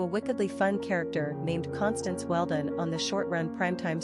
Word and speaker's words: Constance: bump in the early 1980s, due to a wickedly fun character named Constance Weldon on the short-run primetime soap series Flamingo Road, played by Morgan Fairchild.